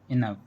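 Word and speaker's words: enough: इन words में ओ यू के बाद वर्ड के लास्ट में जी एच आया है और हमने यहाँ पर जी एच का उच्चारण किया है। लेकिन जी एच का जो उच्चारण किया है वो फा लेटर से किया है।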